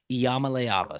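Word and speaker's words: Iamaleava: leava there you go that is how you pronounce Polynesian Payton's last name Nico Yama leava so he had a big one Tennessee 69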